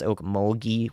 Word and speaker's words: Okmulgee: And I'd recommend being aware out ahead of time for Okmulgee I think it's Okmulgee with the hard G there. The G is a hard sound.